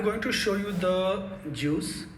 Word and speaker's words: Guice: google built library that we call pronounce as a juice okay so i using